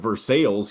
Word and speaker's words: Versailles: indiana down here kentucky you have versailles kentucky which i don't know where the versailles is but that's how you really pronounce that it's in it's in